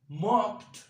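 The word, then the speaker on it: mocked: सही है, टी का आवाज निकाले, जैसे कि मॉक, मॉक्ड, मॉक्ड, मॉक, मॉक्ड, मॉक्ड।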